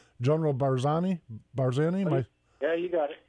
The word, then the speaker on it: Barzani: PES murga General I'm probably gonna say his name wrong General barzani barzani yeah you got it yeah we are